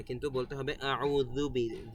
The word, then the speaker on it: أعوذ: তারপরে আউযু বি, এই যে এখানে এক আলিফ টান দিলাম, আউ, আপনাদের এক আলিফ টান দিতে হবে এখানে, বেশিও না কমও না।